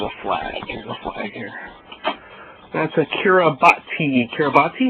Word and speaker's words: Kiribati: That's a Kiribati. Kiribati? It's pronounced Kiribati.